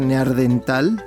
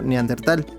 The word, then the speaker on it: neandertal: gente haya aprendido que no se dice neardental porque lo escuché más de una vez en el radio cuando dieron la noticia sino neandertal pero también me parece